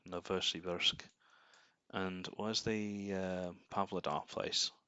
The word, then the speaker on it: Novosibirsk: I was pronouncing it wrong. Novosibirsk.